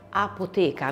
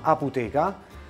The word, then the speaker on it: Aputeca: nome del tuo locale apoteca non so se l'ho pronunciato bene il nome del locale si chiama aputeca e sta a dire